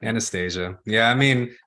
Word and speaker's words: Anastasia: not then please correct Anastasia yeah I mean Anastasia is the way you say it in Russian but we're Americans so we just do things I mean if you want to stay Anastasia but it's it's Anastasia